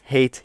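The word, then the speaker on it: heet: in Dutch which is hate so I hate Hilbert now hate is pronounced just like the English word hate although it has a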